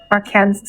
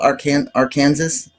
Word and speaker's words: Arkansas: Our Kansas.